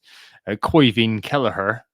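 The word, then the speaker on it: Caoimhín Kelleher: be out for a little while, which is Koivin Kelleher. Yes, Anthony, I pronounced that correctly.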